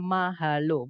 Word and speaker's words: mahalo: Nah, di situ yang alfa ada kata mahalo. Mahalo itu 3 suku kata, teman-teman, yaitu ma, kemudian ha, kemudian lo.